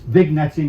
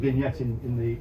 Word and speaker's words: vignetting: It's vignetting, but we pronounce it vignetting in our little world.